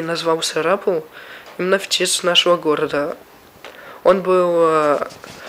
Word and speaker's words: Сарапул: царапал в россии или сарапул в индии оба города даже имели одинаковое написание на английском языке и одинаковые ударение на втором слоге и начал переписываться с